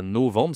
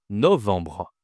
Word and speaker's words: novembre: C'est pas novembre, c'est novembre. Novembre. Bon, novembre. Attention, ici à la nasale enbre.